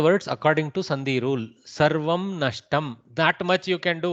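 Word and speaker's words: सर्वं नष्टम्: Sarvamam nashtam. No, sarvam only. Sarvam nashtam.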